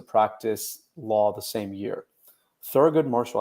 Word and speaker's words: Thurgood Marshall: Thurgood Marshall. I hope I pronounced that right. Yeah, pronounced that right? You said it correctly.